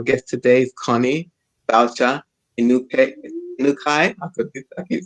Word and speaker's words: Inukai: And so our guest today is Connie Balcher Inukai.